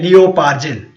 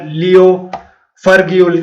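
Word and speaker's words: Leo Pargil: एक है लियो पार्जिल, जिसको कई बार लियो फर्ग्यूल के नाम से भी इसको प्रोनाउंस किया जाता है।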